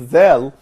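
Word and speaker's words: دال: Now the ninth letter, which is Dal, this consonant is pronounced like frontal than English, like in other, but not in three.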